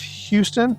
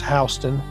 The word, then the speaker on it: Houston: We have Robert F. Houston or it might be Housten here as well. It's how they pronounce it in in Georgia. It's Housten.